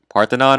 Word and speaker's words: Parthenon: I have the Tower of Babel and part Parthenon I think it's pronounced I choose goddesses that correspond to the